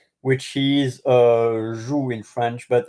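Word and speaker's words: joug: y the y o k e which is zu in French but it's not like the the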